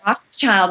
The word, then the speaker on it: Rothschild: rhymes with librarian, and Rothschild is like the famous name.